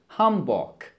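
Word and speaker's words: Hamburg: v h وركز جيدا الم تلاحظ بان هاب حرف الج نطق على انه كي وليس ج هام بوك بشكل بسيط وهذا الامر يعتبر من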